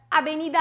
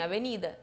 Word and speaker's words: avenida: Olha onde é que está a sílaba tônica. Avenida e harina. São paroxítonas.